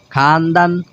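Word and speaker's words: خواندن: কারণ একটা কায়দা আছে, যদি ওয়াও এবং আলিফ একসাথে আসে কোনো শব্দের মধ্যে তাহলে ওয়াও উচ্চারণটা হয় না।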